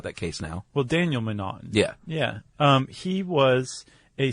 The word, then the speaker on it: M'Naughton: I think M'Naughton. M'Naughton. It's M''Naughton, and it looks like it should be McNaughton, but they left the C out and replaced it with an apostrophe.